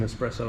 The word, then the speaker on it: espresso: There's no X in espresso as well, just for everyone in the world.